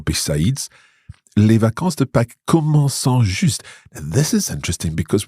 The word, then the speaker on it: commençant: Yeah, it's we have what we call the cedilla, the C with a little squiggly thing underneath.